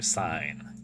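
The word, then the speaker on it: Scyne: First of all, let's meet our main character sign. It's spelled s c y ne. And this is sign.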